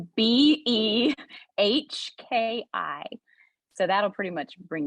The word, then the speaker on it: Behki: Well, on Facebook, I'm Behki, but Becky is spelled different. So it's Behki.